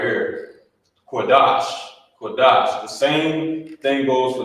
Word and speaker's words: Qadash: You wouldn't say Qadasha because of this connector. These connectors, like I said, they combine two of the characters together, and you will pronounce it as such. You will pronounce it the same way. So, like it was combined. So instead of saying the Shah, Qadasha, it's connected at the bottom. You say Qadash.